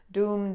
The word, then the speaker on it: Dum: If you want a Beej Mantra, seed mantra, like a little syllable that you say, it's Dum, D-U-M, Doom, doom, doom.